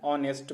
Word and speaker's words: honest: Similarly, we say an honest man. An honest man. Because H in honest is silent.